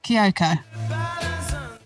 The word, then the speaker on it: Kioko: it wrong tell me is it kyoko you've nailed it yes so how did